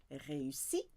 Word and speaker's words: réussis: Je réussis, tu réussis, 3 syllables.